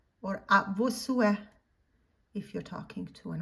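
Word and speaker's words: à vos souhaits: You say a tes sue or a vos sue if you're talking to an older person or somebody that you respect.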